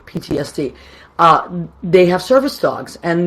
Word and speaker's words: PTSD: or whatever it is, PSTD, I think it's I always say it wrong. Post-traumatic. Okay, PTSD. Thank you. I always get it wrong. PTSD.